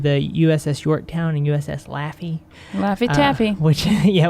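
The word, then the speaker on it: Laffey: USS Yorktown and USS laughy Laffy Taffy which yeah which is an interesting name for a ship that went to war but it's not spelled like laughing but we hang out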